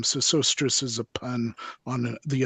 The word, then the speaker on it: Sesostris: Cicerate, Senriset, pronounced in Greek Sesostris, Okay.